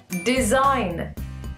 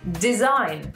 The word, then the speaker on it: design: sound very good, so we don't pronounce the G and it becomes design.